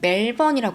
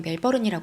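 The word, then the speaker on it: Melbourne: 190km 떨어져 있는 곳이에요이 본토 발음은 멜번이 하던데 저는 그냥 멜버른이 할게요 이게 더 편해서 셰퍼트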